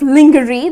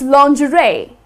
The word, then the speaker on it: lingerie: Well, though, if you look at the spelling, it's kind of lingerie. That's how people tend to pronounce it. But that's incorrect. The correct pronunciation is lingerie.